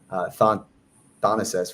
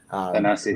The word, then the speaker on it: Thanasis: was obviously highlighting Giannis and obviously his brother Thanasis, right? That's how you pronounce it. Thanasis, yeah.